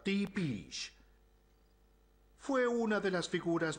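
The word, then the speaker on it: Tepes: Se pronuncia Tepish.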